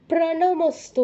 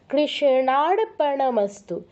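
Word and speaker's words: কৃষ্ণার্পণমস্তু: তার নামই উল্লেখ করবেন আর এখানে একটা ভুল অনেকেই করেন প্রাণমস্তু বলেন প্রাণমস্তু নয় পয়ের নিচে কোন রফলা নেই কেউ প্রাণমস্তু বলবেন না এই আমরা আমরা যদি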